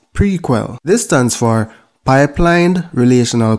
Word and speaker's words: PRQL: the first one is prql pronounced prequel this stands for pipelined